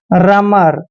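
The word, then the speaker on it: rumour: म पढ़ते हैं देखिए आर से पहले जब भी ओ यू आता है तो ओ यू वहां पर साइलेंट होता है और आर को हम र पढ़ेंगे रमर रमर क्या होता है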